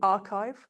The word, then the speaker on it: arXiv: I wouldn't know how you pronounce it. What is it, please? So people, it's called the archive.